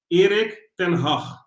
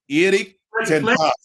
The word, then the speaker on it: Erik ten Hag: Let me pronounce it one more time. Erik ten Hag. Erik ten Hag.